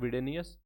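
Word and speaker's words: Widenius: इसके जो lead developer थे वो थे माइकल वाइडेनस, ठीक है, माइकल विडेनियस, इसको प्रोनाउंस कर सकते हो विडेनियस, और इनको मॉन्टी भी बोलते थे, ठीक है।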